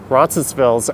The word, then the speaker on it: Roncesvalles: This is really Roncesvalles Avenue, if you think about it. The S on Roncesvalles is optional. People pronounce it differently, even the people that live there.